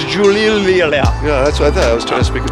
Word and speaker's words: Giulia: They just spell it Italian-like, so it's Giulia.